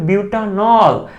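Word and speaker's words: butanol: কিন্তু এখানে দেখো, এখানে কিন্তু আমাদের উচ্চারণটা হইতে হবে কি, মূল উচ্চারণটা হচ্ছে বিউটানল, তো এটা হচ্ছে বিউটান, এই হচ্ছে অল বিউটানল বিউটানল, তাই এখানে উচ্চারণটা বিউটান হবে, আর ইন আইনের ক্ষেত্রে উচ্চারণটা হবে বিউট।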